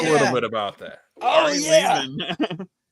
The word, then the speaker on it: Lehman: Ari Lehman. Ari Lehman rhymes with demon.